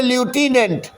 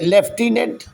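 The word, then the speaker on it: lieutenant: वहाँ लिखते BUT बुट और पढ़ते हैं बट, लिखते कोलोनल पढ़ते कर्नल, लिखते ल्यूटिनेंट पढ़ते लेफ्टिनेंट।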